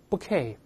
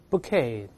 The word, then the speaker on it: bouquet: 读一下束把这个词 bouquet bouquet， a bouquet of flowers 就我们说一束花一把鲜花，可以这么说。